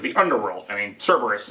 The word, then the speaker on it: Kerberos: I mean, Cerberus is or Kerberos, I think is how it's supposed to be pronounced, is a perfect example.